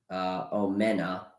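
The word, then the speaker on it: Omenihu: I believe that is the defensive end, Omena. That's how you pronounce his name.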